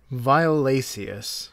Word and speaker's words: violaceus: No, because there's an E. The C followed by an E makes it a soft C. Violaceus.